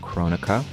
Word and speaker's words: Kronika: a video about chronica that's the correct and proper way to pronounce her name Kronecker and this video is